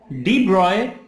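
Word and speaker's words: de Broglie: positive हो जाए हां यह मदद थर्ड है डिब्रॉय ब्रेड इक्वेशन स्पेलिंग थोड़ा ध्यान दीजिए आप यहां पर लिखा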